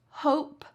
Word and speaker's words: hope: So, for words like this, hope, like, make, that e at the end is silent. Don't you dare say it.